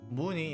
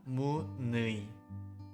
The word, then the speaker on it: 무늬: 무늬 is read as 무늬, not 무의.